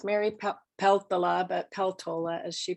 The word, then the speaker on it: Peltola: it is with Mary Pelt the law about peltola as she pronounces it with her when we're seeing the